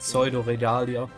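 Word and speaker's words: Pseudoregalia: How do I pronounce that? Pseudo-Regalia.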